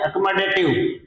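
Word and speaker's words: accommodative: और आज का टॉपिक है, तो इसमें पहला जो वोकैबुलरी है वो है अकोमोडेटिव। अकोमोडेटिव, ये इसका प्रोनाउंसिएशन हो गया। ए से देखो, ये ए की ध्वनि आ रही है।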